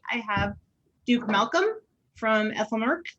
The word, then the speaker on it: Aethelmearc: And tonight I have Duke Malcolm from Aethelmearc. I think I pronounced Aethelmearc right. Yeah, Hopefully. you got it.